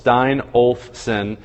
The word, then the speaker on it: Steinolfson: Everybody, it's 3 syllables, Steinolfson.